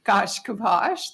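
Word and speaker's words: Gaiashkibos: Yes, I'm Gaish-Kibos. That is spelled G-A-I-A-S-H-K-I-B-O-S, and I'm the Executive Director of the Nebraska Commission on Indian Affairs.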